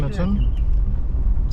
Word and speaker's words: Kyneton: Kyneton.